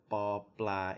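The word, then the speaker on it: ป ปลา: It's extremely subtle, but ba blah is a hard B. It's not a P, paw. It's not a P. It's not aspirated.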